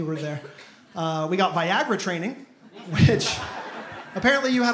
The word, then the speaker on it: Viagra: how to pronounce it she kept calling it vigera through the whole thing she was like Viger is going to be covered for this and Viger is not covered for that and I I finally had to correct I was like hey just so you know that's actually pronounced Viagra she got so embarrassed